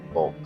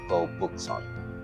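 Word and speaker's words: 거북: Actually, not pronounced bulk for that one because there's a U, not an O. So, it will be pronounced book. Go book.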